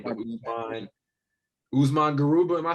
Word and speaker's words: Usman Garuba: I feel like I'm butchering his name, but Usman Garuba, am I saying his name right?